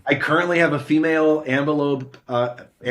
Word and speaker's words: Ambilobe: And so I currently have a female ambelobe. How do I pronounce it, Bill? Ambilobe. Okay, there we go.